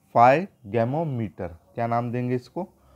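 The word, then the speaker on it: sphygmomanometer: ठीक है, और इसको क्या बोलते हैं जो ब्लड प्रेशर नापने की, तो फाइगैमोमीटर। क्या नाम देंगे इसको, फाइगैमोमीटर। यहाँ पर एस साइलेंट है, ये ध्यान रखिएगा आप।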